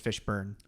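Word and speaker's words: Fishburne: no we haven't I it's fish burn not fish burn sorry yeah no I I I kind of realized that not too long ago that I've been pronouncing his name wrong the entire time I always thought there was an o in there it's just fish burn besides this what do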